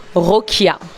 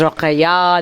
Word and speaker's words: Rokia: Rokia. Mais au Sénégal, ils disent Rokhaya, les Rwandais disent Rokhaya, donc Rokia.